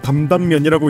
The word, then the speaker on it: 담담면: 탄탄면은 우리나라식으로 읽으면 담담면이라고 읽는데요.